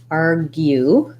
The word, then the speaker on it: argue: Argue, this GU says a G sound, a G sound, and a glide, a Y sound, GU. So when you're saying argue, you might want to start with the U and then add the G. U, GU, argue.